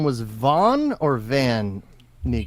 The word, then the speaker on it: Van Meegeren: His name was Von or Van Meegeren? It's VAN, and I've It is heard it VAN, pronounced both Van.